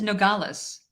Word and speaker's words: Nogales: you're good on those i think it's nogales nogales i like that yes okay nogales presumed to be nogales and try this one